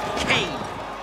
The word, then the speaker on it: Kane: you Nightrunner fight chiro Kane rhymes with pain and Kane will beat